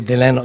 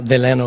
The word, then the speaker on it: Delano: What he used to say, Delano, Delano is the way he pronounced it.